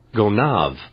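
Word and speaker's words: Gonâve: Go Nav. Go Nav. Is that right? Yep. That's That's what it is. Go Nav.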